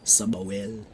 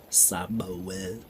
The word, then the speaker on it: Sbwl: a person um can also be pronounced the trendy version uh you just remove all the vowels sabawell sabawell simoel summerwell superwell that's